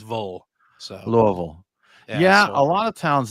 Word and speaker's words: Louisville: Well, Brian, speaking of your vacation, you went to Louisville, I believe is the way it's supposed to be pronounced.